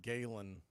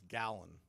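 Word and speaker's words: Gallen: that it was pronounced Galen Zach Galen it's not it's gallon it's g l l en but it's pronounced just like you would like a gallon of gas first pitch on the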